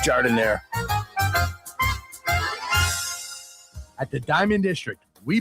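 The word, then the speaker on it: giardiniera: And guys, when you're at the counter, don't call it gardenia. It's pronounced jardiniere.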